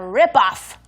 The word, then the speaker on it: rip-off: All right, today's takeaway is what a ripoff. What a rip-off. What a ripoff. Rip-off 발음도 주의하시고요. Yeah, ripoff. rip-off. Rip-off. F 발음까지.